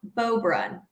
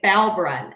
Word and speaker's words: Beaubrun: This is the second time we've played a team that cannot pronounce Beaubrun, and they want to say Balbrun.